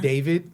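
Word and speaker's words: D4vd: are like this is artist named David spelled like D4 VD yeah and he makes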